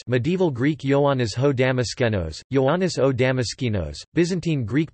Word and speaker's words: Ἰωάννης ὁ Δαμασκηνός: John of Damascus, medieval Greek Ioannis ho Damaskenos, Ioannis o Damaskinos, Byzantine Greek pronunciation, Ioannis o Amashi nos, Latin, Ioannis Damascenus,